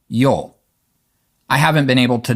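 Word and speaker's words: jól: And it may have even gone as far back as protonors, a word spelled j o l, pronounced probably something like yol.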